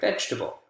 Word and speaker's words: vegetable: to the spoken form a really common word where you see differences is vegetable carrot zucchini tomato right vegetable vegetable spoken has three syllables vegetable vegetable but when we write it there are four vowel sounds and a